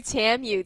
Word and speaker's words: TAMU: on both sides oh it actually rhymes with two we've got two TAMU teams coming up next